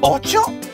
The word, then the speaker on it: ocho: 8 is ocho.